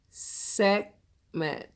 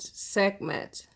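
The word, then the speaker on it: Sekhmet: I'll do my best segment segment the H must be silent it spelled s EK h m ET okay jim and i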